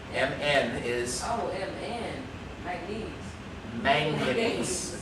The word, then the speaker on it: manganese: manganese. Okay, it's got 3 syllables. Manganese. Okay, not mayonnaise.